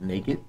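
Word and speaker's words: NAKD: Our second platform we're working on is called Naked. So it's spelled N-A-K-D.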